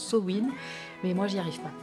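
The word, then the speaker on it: Samhain: grimoires et voilà, si sa main ça vous parle pas, oui je dis sa main parce que j'ai toujours dit sa main, alors je sais que normalement on prononce Sowin, mais moi j'y arrive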